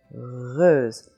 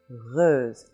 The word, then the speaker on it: heureuse: And right at that point is where the back of the tongue intersects that point, and you make a little friction sound, and you have so you have heureuse, heureuse, heureuse.